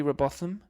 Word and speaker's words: Robotham: It's Robotham, Robotham. My dad used to answer the phone Robotham like it was something posh, but I just say Robot Ham.